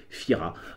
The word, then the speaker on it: Fira: la capitale à Fira qui s'écrit tira mais prononcé Fira on allait s'entraîner dans